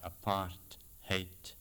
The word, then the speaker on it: apartheid: It's called apartheid, and if you pronounce it like apart hate, you've got roughly not only the exact pronunciation, but pretty much the content of the term.